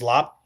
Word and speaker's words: larb: They'd say lop. It's spelled like larb usually l a rb, but it's lop.